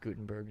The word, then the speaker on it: Guttenberg: Am I pronouncing that right? Guttenberg. Not really. Gutenberg meaning No? good mountain. Just Gutenberg is fine.